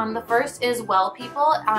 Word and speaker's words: W3LL People: The first is Well People. It's Well, but the E is spelled with a 3, so it's like W3LL People.